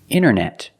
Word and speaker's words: internet: hear Americans say wanted you have NT in the middle the t is silent other examples internet internet or Internet International